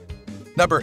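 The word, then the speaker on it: Medellín: It’s not just practiced in small towns and villages, either, there’s an available tour in one of Colombia’s largest cities, Medellin <pronounced Meh-the-jean>.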